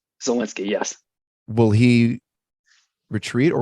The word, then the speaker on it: Zelensky: So is this president, am I pronouncing right, Zelensky? Zelensky, yes.